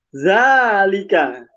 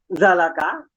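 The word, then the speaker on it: ذلك: Ketika ketemu tulisan seperti ini, za, lam, dan kaf, tidak mungkin dibaca zalaka atau zaliku atau zaliki. Dia mesti dibaca zalika.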